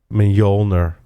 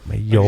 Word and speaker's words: Mjolnir: I don't think I told him yet, but I called it Mjolnir. Oh, is that how you pronounce that? Thor's hammer. Mjolnir.